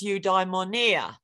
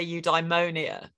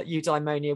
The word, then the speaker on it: eudaimonia: the eight for the ancient Greeks it was eudaimonia yeah a little stress on the eye most British philosophers say you diemonia uh just traditional where pronouncing Greek in an English way uh eudaimonia would be the the normal way of saying